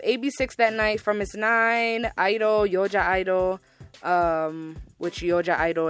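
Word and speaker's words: (G)I-DLE: A lot of people call them G Idol. The G is silent, so it's just Idol, basically.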